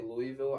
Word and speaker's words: Louisville: If you're from Louisville and you say Louisville, I disown you. Louisville is how you say it.